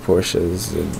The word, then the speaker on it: Porsche: It is an American phenomenon that people will point out when you're not pronouncing Porsche with two syllables. When I lived in Germany, Germans really didn't care that much whether you pronounced it Porsche or Porsche or Porsche. And in fact, in southern Germany, in Bavaria, which is the largest of German states, many people would pronounce it, like native Germans would pronounce it Porsche, you know, with an E on the ends.